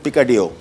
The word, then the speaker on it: picadillo: बना रहे हैं मेक्सिकन पिका डियो पका डी I double L ओ होगा डब मेक्सिकन में इसमें स्पेनिश में साइलेंट होता है और यह बेसिकली आलू